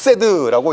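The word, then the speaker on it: חסד: 썼다고 말 못하는 거죠 이렇게 생겼습니다 아 히브리어로 헤드라고 읽는 단어인데요 요렇게 생긴 단어를 우리 번역에서 해라고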